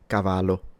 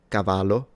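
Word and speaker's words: cavallo: Italian is just pronounced as a longer/ stronger version of the single L. So, Cavalo, if this was spelled with one L in Italian, I would read it cavalo. So, can you tell the difference? Let's try it again and let me know in the comments. 1 L. Cavalo doesn't exist. 2L Cavalo.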